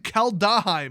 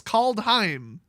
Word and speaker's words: Kaldheim: lore guide to kaldeheim i keep saying kaldaheim it's called call time it's two syllables called heim this isn't hard i